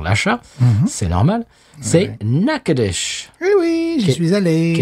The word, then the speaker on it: Natchitoches: Alors, Natchitoches, si vous le voyez écrit, c'est pas évident que ça se prononce comme ça. Ça s'écrit... Ça s'écrit Natchitoches. C'est ça, oui, c'est absolument pas... Ça se prononce Natchitoches. Natchitoches, c'est ça, c'est des mots, indiens.